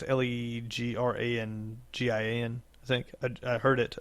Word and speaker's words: Lagrangian: Now, that little hump is called a Lagrangian point. Or Lagrangian point, I think is actually that's pronounced, but it's I think it's Legrangian.